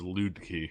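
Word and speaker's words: Luedke: joel how do you say it it is loot key and i don't blame you dude sorry from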